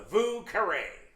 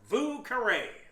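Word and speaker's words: Vieux Carré: we're gonna make the vu carray get out your creole pronunciation of your french it means old square vu caray that's how they say it down in new orleans the drink was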